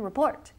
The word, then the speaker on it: report: And remember the pronunciation, report. The second syllable, report. Report. Report. Okay, bien. Todo el mundo dice report. Report. No, mal, mal, mal. Report. Segunda sílaba.